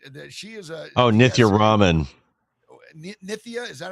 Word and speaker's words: Nithya: Nithya, is that how you say it?